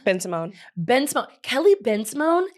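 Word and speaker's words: Bensimon: Ben Simone.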